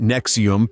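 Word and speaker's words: NXIVM: got involved with the nxc VM pronounced Nexium pyramid cult in 2007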